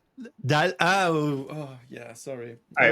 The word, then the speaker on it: Dalle: It's the family name you got wrong. It's Guillaume Dalle. Dalle.